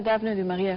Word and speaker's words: Daphne du Maurier: ¿Cómo se pronuncia eso? De la escritora Daphne du Maurier.